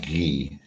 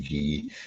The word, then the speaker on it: Guy: by the way my my name is actually French not to cut in but yeah it should be pronounced ghee yes uh I think maybe I'm the only one that ever calls him G yeah yeah yeah that's